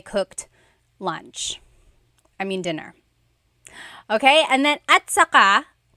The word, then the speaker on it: at saka: Okay, and then at saka, technically it's spelled at saka, but when it's pronounced, remember the TS combination, it makes that ch sound.